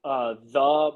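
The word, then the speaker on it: Thee: Um, and then my Twitter would be the Mike Hobart with two E's. I pronounce it the, but everybody for whatever reason doesn't pick up on the fact that a long E means two E's.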